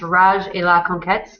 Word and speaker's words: Rage et la Conquête: This is pronounced Rage et la Conquête, and that's the French way to say that.